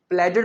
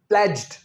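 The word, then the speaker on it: pledged: इसमें हम D pronounce नहीं करेंगे, प्लेडेड नहीं, प्लेज्ड, विदाउट डी बोलना है, प्लेज्ड टू मिटिगेट पोल्यूशन।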